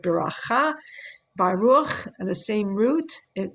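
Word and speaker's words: ברכה: Blessings of enjoyment, like Birchot Nehanim, where you just partake of the world and you say a bracha. Bracha is a kind of Ashkenazi pronunciation of the word beracha, Baruch, the same root.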